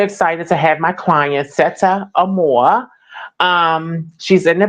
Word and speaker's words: Sette: And it's pronounced set, by the way. Just set.